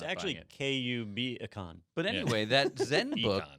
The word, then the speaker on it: KubeCon: It's actually KUBicon.